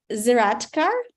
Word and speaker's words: Zeraatkar: Now, let me present you our guest speaker of today's meeting, Dena Zeraatkar. I hope I have pronounced your last name correctly, Dena.